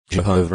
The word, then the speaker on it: Jehovah: Jehovah is the best known English pronunciation of the divine name, although Yahweh is favored by most Hebrew scholars.